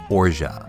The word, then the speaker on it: orgeat: The first mocktail is going to use an almond-flavored simple syrup called orgeat, the pronunciation of which was confirmed to me by a real French human.